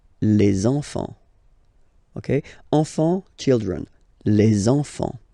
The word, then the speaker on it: les enfants: So you should make the little link. Les enfants. Les enfants.